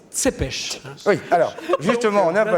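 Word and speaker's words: Țepeș: était VL t oui je me permet de rectifier la prononciation les rouains disent C pêche oui alors justement on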